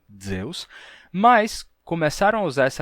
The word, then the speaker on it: Zeus: do Deus grego Zeus se escrevia com z se pronunciava assim Zeus mas começaram a usar